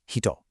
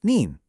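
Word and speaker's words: 人: By itself, it means person and it's pronounced hito.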